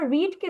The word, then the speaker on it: read: এরপরে যদি আমরা রিডকে দেখি, রিড হচ্ছে কি আমাদের প্রেজেন্ট ফর্ম। রিডের পাস্ট ফর্ম হচ্ছে গিয়ে রেড, বাট আমাদের বানানটা একই, উচ্চারণ ভিন্ন, ঠিক আছে?